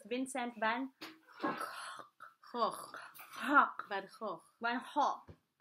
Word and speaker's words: Vincent van Gogh: So, it's not Vincent Van Gogh. So, the proper Dutch pronunciation is Vincent Van Cough.